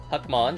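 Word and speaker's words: Hackmon: Sting, another King device, Huckmon as in Huckleberry Finn, or rhymes with puckmon and oblivion middlegramon zagamon which I think uh the Neilto was using this zapogamon Right.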